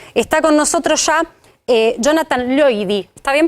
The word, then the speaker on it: Loidi: Está con nosotros ya Jonathan Loidy. ¿Está bien pronunciado?